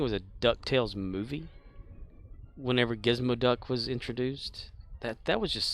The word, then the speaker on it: Gizmoduck: Gizmoduck. Remember, he wasn't Gizmo Duck, he was Gizmoduck. That's how Scrooge would say his name.